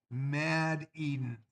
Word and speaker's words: Mad Eden: Is it Made Eden? Mad Eden. Okay, Mad Eden 123.